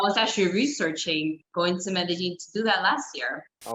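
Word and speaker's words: Medellín: I said Medellin. I said it wrong. I'm sorry. No, I think it's the 2 L's. It gets everybody. Medellin. So like the double L is like, we kind of say Medellin.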